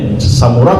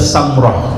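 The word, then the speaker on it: سمرة: Samurah bisa juga Samrah, ya. Alul Hijaz membacanya Samrah, ya.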